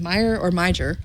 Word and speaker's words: Meijer: I think it's pronounced Meijer. It's got a J in the middle of it.